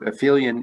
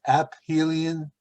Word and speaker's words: aphelion: Isn't it aphelion? Do you mean my pronunciation? Yeah. I believe, again, I'm only imperfectly recalling. I would have thought it was aphelion, but I think I checked the pronunciation and it was aphelion.